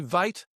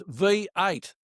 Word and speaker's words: V8: Geling horse number two, Vate or No, it's not vate. It's V8.